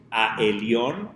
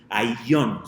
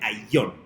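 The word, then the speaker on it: Ayllón: Hay quien lo pronunciaba en hebreo Aelion o Aelion, ¿sí? Pero no, el nombre realmente es Ailion, se pronuncia como A-Y-L-L-O-N, Ailion, ¿ok?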